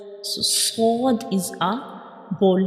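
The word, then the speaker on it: ص: And also when we pronounce sword, we will touch the tip of tongue to the hard palate.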